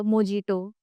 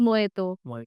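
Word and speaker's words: mojito: Next जो बहुत ही famous drink होता है मोजिटो। मोहितो। सो इट्स मोइतो।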